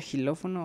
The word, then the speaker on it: xilófono: tenemos varias palabras jamón esto se pronuncia xilófono ok xilófono xilófono me